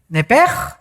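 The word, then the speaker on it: נפש: es la palabra hebrea nepes así como suena n e p e s h nepes la palabra la letra o las letras sh en el hebreo se pronuncian en hebreo como J Entonces se pronuncia nepe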